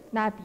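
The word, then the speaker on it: 나비: Okay, jadi kalau ini bacanya Nabi.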